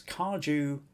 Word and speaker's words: kaju: And it's in Kaju as in juice. Kaju cutlet.